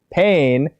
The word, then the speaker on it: Pain: So that in Japanese you would pronounce it pain, which sounds the closest to the English word pain.